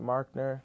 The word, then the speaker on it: Marcnerr: You can find me on IG, spelled Marcnerr, pronounced Markner. Markner.